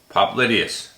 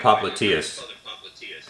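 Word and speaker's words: popliteus: pop lydius yes uh we call that I I always call it popliteas but uh I guess the New York the New York pronunciation is popularius there was a guy there was a guy in DC that would call it pop lydius too but you could call it either way all right so just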